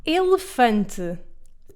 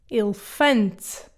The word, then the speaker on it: elefante: Elefante. The first E is closed, the second and the last are reduced. Elefante.